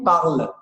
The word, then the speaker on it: parle: gente está no presente, você só vai pronunciar até o L. Então, você só fala il parle. Você exclui, tira fora, corta fora, o NT não existe na pronúncia.